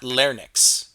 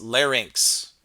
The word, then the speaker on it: larynx: little structure there um now it's not lnx okay it's larynx it it's a common mispronunciation now what in your